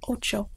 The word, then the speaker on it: ocho: Next is O, which is the same as English, except a little bit shorter of a pronunciation. Como, or ocho. Ocho is a better example.